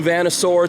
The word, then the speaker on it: Vanosaur: is out this is campfire By Moonlight new Venusaur t-shirt that's how you pronounce that if you're a fan of Class